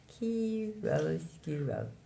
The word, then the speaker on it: chiaroscuro: The vocabulary word for the day is, the first part is chiro, and then the second part is scuro. Chiaroscuro. The light and shadow in Italian.